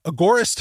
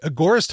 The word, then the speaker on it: agorist: and of course uh agorist hosting I'm going to pronounce it that way agorist hosting a g o r i s t